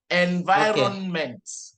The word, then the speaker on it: environment: No, the EN is N. Environment. Good, but you didn't pronounce my T at the end. Environment.